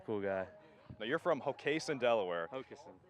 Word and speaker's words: Hockessin: Now, you're from Hockessin, Delaware. Hockessin, Delaware. Yeah. Okay, what's the worst mispronunciation you've ever heard of your hometown? Normally it's Hockessin, but how you just said it there was pretty bad too.